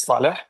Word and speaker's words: Salah: Uh Salah, I hope I'm pronouncing your name correctly. Yes. Hi. Good afternoon, Mr. Anand and everyone. Yes, it's Salah. That's correct. First of all, thank you